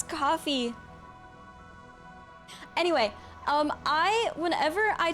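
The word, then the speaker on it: Ko-fi: ] do you guys pronounce it coffee I pronounce it Kofi I've been pronouncing it Kofi since I saw it I didn't even know it was supposed to be pronounced it coffee I cuz it's like oh go buy me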